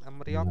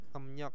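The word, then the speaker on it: 음력: emnyok ya emyok Heeh jangan emriok ya emnyok bacanya Oke kita lanjut ke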